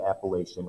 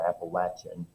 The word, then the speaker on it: Appalachian: The population will double west of the Appalachian or Appalachian Mountains, depending on your pronunciation, in the decade after the War of 1812.